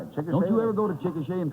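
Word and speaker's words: Chickasha: I No, the name is pronounced Chicochet. Chicochet. Yeah. Oh, well, I'm very happy to. Chickashi. Well, it could just as well be Chicashi, you know.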